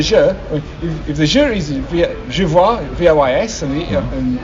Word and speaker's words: je vois: And the il and the je, if the je is je vois, V-O-I-S, and il, V-O-I-T, but given you don't pronounce the S or the T, je vois, il voit, they sound the same.